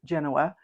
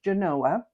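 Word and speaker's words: Genoa: people in other parts of the world would pronounce it Genanoa but in Nevada it is pronounced Genanoa.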